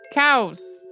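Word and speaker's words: caos: who point out that the word meaning chaos in Italian is pronounced cows approximately um I didn't get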